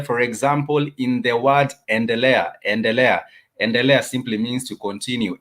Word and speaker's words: endelea: It starts with the letter E, and therefore it's pronounced as endelea. Let me give an example of an English word that starts with the letter E. For example, educate. Educate.